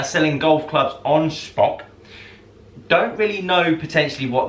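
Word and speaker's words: Shpock: that's not my list that is how it is spelt s-h-p-o-c-k spock you've probably seen adverts for it as far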